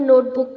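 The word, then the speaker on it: knit: या तो स्क्रीनशॉट ले लीजिए या फिर अपने नोटबुक पर अलग से उतार लीजिए नाइफ का के साइलेंट है निट का के साइलेंट है नॉप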